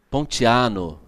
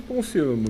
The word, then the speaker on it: Ponciano: Pontiano, é o quê? Ponciano mesmo. Ponciano mesmo? A pronúncia com 2C não, né? Não, um C só.